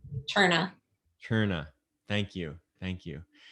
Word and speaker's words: Terna: How do you pronounce his last name? Cherna.